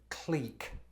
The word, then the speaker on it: clique: I said click. I mean, look at the way it's Clique. spelled. Do you see CK in that?